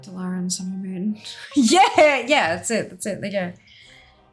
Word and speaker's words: Dalaran: Dalaran. It's Dalaran. But like, sometimes it's fun to say things the wrong way.